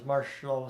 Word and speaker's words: Marchessault: No, I think that's how I've always heard it, is Marchessault.